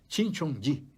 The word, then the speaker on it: Shincheonji: Oye, Jesús Shincheonjeon, Eoji, puede ser Shincheonji. Hay que aprender a pronunciar el coreano. Yo no soy fuerte en coreano y no creo que ninguno otro lo sea, pero Jesús Shincheonji debe ser como se pronuncia.